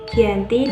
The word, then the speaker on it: Giyanti: 1755 nama GB sendiri diambil dari lokasi penandatanganan ujian yakni di desa Janti dalam pelafalan Belanda ia tersebut sebagai Giyanti dan secara tertulis ia terbaca sebagai ganti tempat tersebut sekarang dikenal